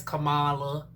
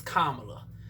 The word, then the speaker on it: Kamala: then unsurprisingly kamala honey or you know commonly mispronounced um as kamala i've heard some people say i used to say camera because i said well she west india i'm